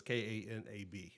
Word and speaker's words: Kanab: depending on where you're from or how you pronounce things, but it's Kanab, okay, Utah.